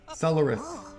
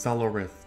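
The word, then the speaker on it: Solarith: the heck is this solarin solarin no no it's pronounced solo rith the final part is a little tricky for humans it means hello in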